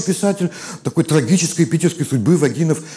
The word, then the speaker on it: Вагинов: такой трагической питерской судьбы вагинов которые своих ударений и составил на первом слоге а вы бы как сделали и кто из плагинов вагинов естественно поговорим о да